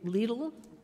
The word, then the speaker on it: Lidl: Is that how you say that? Lidl? Lidl. Yes, it rhymes with needle.